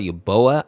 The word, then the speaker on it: Uboa: This character is called Uboa, I believe is how you say it, and it's a character that resides in Poniko's house.